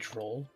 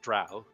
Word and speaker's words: drow: a bit just think troll sure oh sorry that is an an archaic brainless pronunciation of it it is drow I still sometimes caught